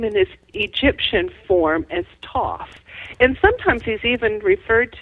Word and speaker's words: Thoth: others are correct but if you go to Egypt and you talk to the Egyptians and you talk to the head of the Antiquities they say TOS so that's good enough